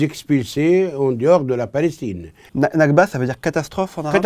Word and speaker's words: Nakba: c'est une question de loi internationale alors la nakba c'est comme ça que ça prononce oui c'est quoi la nakba c'est la